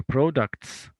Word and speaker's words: products: manages manages organizes okay products products yes we can notes Here in number four products in it pronounces uh is it is pronounced S Type departments the Departments so